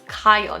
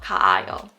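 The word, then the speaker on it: 가요: combine syllables right so it's kayo not ka o kyo i go now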